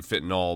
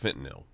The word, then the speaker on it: fentanyl: so much about fentanyl or some people say fit and all but I think there's an it's actually pronounced fentanyl and we've talked about this before about just